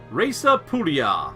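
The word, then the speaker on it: Raesa Pullia: Reza Pulia, or Raesa Pulia, if you were going to say it in real Latin.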